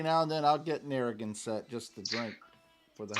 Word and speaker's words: Narragansett: a light beer though, so I don't know how to pronounce the name of this. It's a New York beer. Can you help me out? Narragansett. Narragansett.